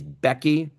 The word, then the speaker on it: BEQI: Another acronym that you are going to hear a lot about is Becky.